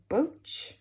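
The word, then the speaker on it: Boetsch: can't pronounce it because it almost sounds a bit German but it is so it's j and then the surname is b-o-e-t-s-c-h so boats um but a French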